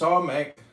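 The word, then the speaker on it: Samekh: Samek, pronounced Samek, transcribed as S, the number 60, meaning prop, support, the intelligence of probation, trial.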